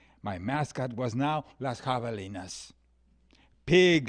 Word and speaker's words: javelina: I had gone from a three syllable mascot coyote to a four syllable mascot javelina I don't know I